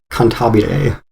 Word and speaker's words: Cantabile: Am I pronouncing that correctly? It looks Italian. Okay. Yeah, it's Nodame Cantabile.